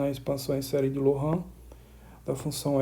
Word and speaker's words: Laurent: Esse nome aqui se escreve Laurent. Se a gente fosse ler em português, seria Laurent, tá? Mas que foi um matemático francês, então por isso que a pronúncia aqui estou fazendo é Loran, série de Loran.